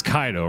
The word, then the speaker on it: Kaido: need to talk his name's kaido man but before i get up all up in arms about that it's kaido right like it's it's one of those situations where dudes will hear the name pronounced correctly and then just stick with